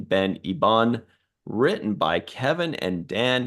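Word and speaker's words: Ben Hibon: Anyway, so this is directed by, I believe it's pronounced Ben Ibon, the French pronunciation, Ben Ibon, written by Kevin and Dan Hageman.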